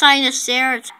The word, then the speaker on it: Sinoceratops: It's pronounced Sinoceratops.